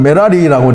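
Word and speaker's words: 메라리: 너무나 찾는대로 마라의 뜻입니다 물 아내는 원래 발음은 메라 리라고 얘기입니다 아 성 코드가 484 3인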